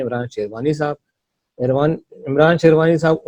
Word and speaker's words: Shirvanee: I hope sherwani साहब मैंने नाम जो है सही प्रोनाउंस किया है। जी हाँ, बिल्कुल सही जी किया।